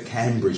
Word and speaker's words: Cambridge: getting on the bridge here but you say Cambridge but it's not as you Cambridge even though